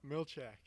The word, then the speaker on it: Milchak: Milchak, am I saying that right? I always feel like I'm saying your name wrong. It's like Conan. You say it, and you're like, did I just screw that up? Milchak. Yep, Milchak.